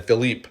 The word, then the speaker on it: Philippe: would be next and then Philippe I believe it's pronounced Philip would be next um